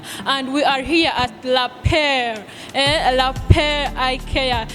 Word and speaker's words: Lapaire: Yeah, the right word is Lapaire. Lapaire, just as it is. Exactly, meaning a pair. La means the, then pair, the pair.